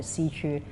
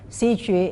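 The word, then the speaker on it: Xiqu: And we have just opened last month the first permanent performance venue called the Xiju Center. Xiju is the Mandarin pronunciation for Chinese opera.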